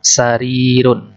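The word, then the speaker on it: سريرٌ: Damar sebelahnya ada sarirun ada sarirun panjang ya karena Dayak sukun yasukuni tuh harus panjang sama seperti aktif jadi bacanya panjang sehari kalau Alif itu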